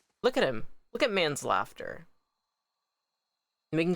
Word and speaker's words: Manslaughter: Can we name him manslaughter? Pronounced like man's laughter.